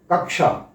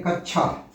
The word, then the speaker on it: कक्षा: का को श के साथ जोड़ेंगे तो यही उच्चारण होगा श, कक्षा।